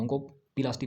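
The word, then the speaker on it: oncoplasty: ओंको पिलास्टी बोलिए, अगर आप इसको बोलना चाहते हो ना, प्रोनाउंस करना चाहते हो तो इसको ओंको पिलास्टी बोलिए, ओंको पिलास्टी।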